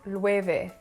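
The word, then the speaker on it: Loewe: more for this brand i realized it was pronounced lueve now because my spanish 101 classes are very far away i can't really explain to you why the w makes a v sound i just know that it's a and not low or lower lueve and for the last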